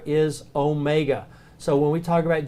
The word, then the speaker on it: Omega: a long a sound the Omega is a long o sound so it's Omega so two words to